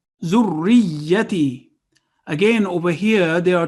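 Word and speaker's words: ذريتي: And ta has a ya of elongation because there is a sukoon on it, so it would be long. Zurriyati. If we say zurriyati, would be wrong. Zurriyati is the correct pronunciation.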